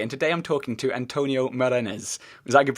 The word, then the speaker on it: Antonio Morenés: i'm duncan cj and today i'm talking to antonio marinez is that your pronunciation yeah more or less i've been i've